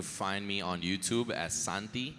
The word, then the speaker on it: Santi: You can find me on YouTube as Santi. It's spelled like S-A-N and then T. So Santi, Santea.